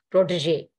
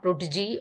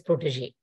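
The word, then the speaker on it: protégé: And the pronunciation variation, the correction would be protege. It is not protege or protege as several people pronounce. It is protege.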